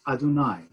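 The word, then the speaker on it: אדני: nun, and yud, which is the name, we pronounce as Adonai.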